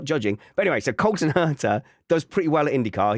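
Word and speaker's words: Colton Herta: Let's talk about Colin HEERTA. Colton, I know I said it wrong. Colton HEERTA.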